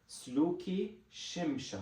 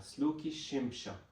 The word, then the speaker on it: Sluki Shimsha: And here there's a stress on this first sha. So it's Sluki Shimsha. Sluki Shimsha.